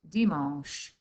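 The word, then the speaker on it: dimanche: hoodie saturday is sunday sunday and sunday is dimash okay so you can rewind that i'll listen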